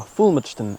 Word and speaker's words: Fulmodeston: Now, as a Norfolk boy, I believe their correct pronunciations are Fulmodeston and Hindolveston respectively, with or without an "E" at various points throughout their existence.